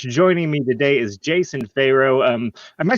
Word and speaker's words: Pharo: greek but it's uh it's pronounced like you would you know egypt pharaoh right very good very good well joining me today is jason farrow um uh j pharaoh